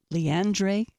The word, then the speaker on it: Leandre: quick break we're talking with Dr LeAndre did I pronounce it right yes you did okay thank